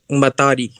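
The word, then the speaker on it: Mahtari: Yes, it is called Matari.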